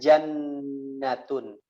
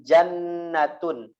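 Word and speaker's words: جنة: Yang pertama, teman-teman perhatikan bahwa nun tasydid ya ditulisnya jannatun.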